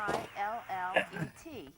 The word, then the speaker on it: fillet: F-I-L-L-E-T, and it should be pronounced fillet.